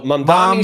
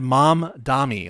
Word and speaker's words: Mamdani: So I would pronounce that as mom, like my mom, and then Donnie, like a girl named Danny, but I'm changing the D to you an said mom Dami.